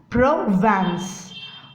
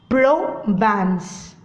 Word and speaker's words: Provence: Okay, and have to pronounce it Provence. Provence.